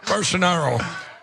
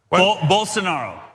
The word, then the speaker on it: Bolsonaro: Bolsonaro. Yeah. Bolsonaro.